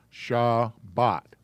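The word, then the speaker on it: שבת: the shabbat is here we got a shah sound ba sound and then we throw the t in at the end sha bot for religion is dot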